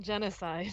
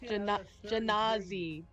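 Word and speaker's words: Genasi: Not genocide. It's not Genocide. pronounced genocide. It's Genazi. Genazi.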